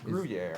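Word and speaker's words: Gruyère: I don't even know how to pronounce this. Because I'm. What, House- Gorgonzola? House of Rarris? Gruyere.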